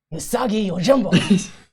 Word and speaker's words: Usagi Yojimbo: And today we're going to be talking about, we didn't actually talk about our pronunciation on the before we started here, but... I got it. Usagi Yojimbo.